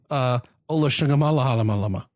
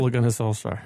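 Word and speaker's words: Solskjær: So you still want Pochettino, or would you rather keep Ola Shungamala? How do you say it? Ole Gunnar Solskjaer. Yes.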